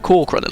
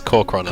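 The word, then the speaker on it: Kor'kron: don't have that luxury can we call it cool credit yeah its core chrono chrono I was sorry I I always I always get that wrong my bad and I'm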